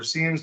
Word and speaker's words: SIEMs: Most of those had SIMs or SIEMs, depending on how you pronounce it.